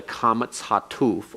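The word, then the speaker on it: קמץ חטוף: or comets hatof, and it's pronounced as the O in God, so that it is not ah as in comets. It's not O as in holum. It's not U as in shurik.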